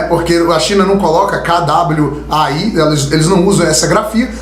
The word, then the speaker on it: Kwai: A pessoa, o brasileiro, ele não consegue enxergar aquilo como Kwai. Então ele vai acabar pronunciando a letra K e depois o A, então fala Kawaii.